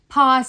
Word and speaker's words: ภ: ต่อ มา นะ คะ พอ สำเภา อ่าน ว่า พอ พอ สำเภา อ่าน ว่า พอ พอ สำเภา อ่าน ว่า พอ พยัญชนะ ตัว พอ สำเภา กับ พ พาน จะ อ่าน ออก เสียง เหมือน กัน คือ ออก เสียง ว่า